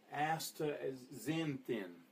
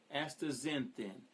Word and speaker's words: astaxanthin: I've been trying to practice this, but I believe you say it astaxanthin. Astaxanthin. And so they cut it down to astaxanthin, Z-E-N-thin.